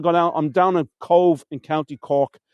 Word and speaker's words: Cobh: And it's one of the few words in Irish language that the pronunciation is the same as it is in English. COBH is cove, but COVE is the English version of cove.